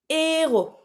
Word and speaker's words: héros: For example, héros, héros. When you say héros, the hero, we tend to pronounce it pretty slightly. Héros, héros. When you have this, we don't do the link.